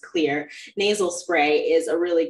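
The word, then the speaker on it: Xlear: I used I use clear uh clear X car it's spelled with an X but it's still pronounced clear nasal spray is a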